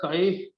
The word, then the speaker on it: chi: proportional to h right chi this is pronunciated as chi p h i i is a dimensional